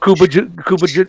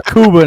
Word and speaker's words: Cuba: videos on YouTube of Kuba Cuba Gooding Juniors facial expressions oh gosh that's just Nick mispronounces his name all the time his name's Cuba now Nick looks kind